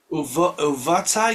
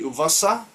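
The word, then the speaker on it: ובאת: uvata, yeah? Yeah. Or if Ashkenazi pronunciation would be uvasa.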